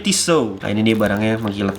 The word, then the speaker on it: Tissot: ini quarternya tisunya langsung tulisannya Tissot bacanya tisel nah ini dia barangnya